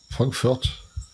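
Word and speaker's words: Frankfurt: de la boucherie et comment tu prononces Frankfort avec l'accent allemand Fred Frankfort ok cool cool voilà le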